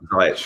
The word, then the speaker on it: Ziyech: Is it Is it Cilic or Ziyech? Ziyech, yeah. Ziyech.